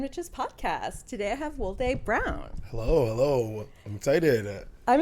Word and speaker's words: Woldeh: So my name is Woldeh. It is pronounced Woldeh.